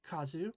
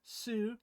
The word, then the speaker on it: 数: thing this kanji Kazu will most often be pronounced Kazu when you see it by itself and will most often be pronounced Su when you see it